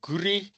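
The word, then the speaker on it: Gouriet: Um the culpits clap and gour gouret I'm not French but I don't pronounce the T. So gur oscillators they have a capacitive divider in the feedback loop.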